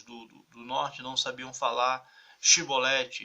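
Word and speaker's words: Xibolete: norte não sabiam falar Chibolete, eles não sabiam essa pronúncia do chi, aí pronunciavam si.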